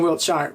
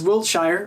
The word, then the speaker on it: Wiltshire: my middle name is Wiltshire or Wiltshire depending if you're from England or not they pronounce it differently but you know whatever